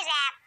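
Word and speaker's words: wrap: अब जब भी डब्ल्यू आर साथ में हो तो डब्ल्यू को नहीं पढ़ा जाता, जैसे कि रैप, रैप मीन्स होता है लपेटना, रॉन्ग,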